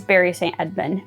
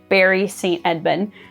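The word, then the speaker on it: Bury St Edmunds: the first one is Barry St Edmund I know it's spelled like bury it's it's not pronounced like that it's Barry Saint Edmund but yeah like that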